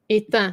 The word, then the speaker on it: éteint: Well, you have to say the T. Éteint.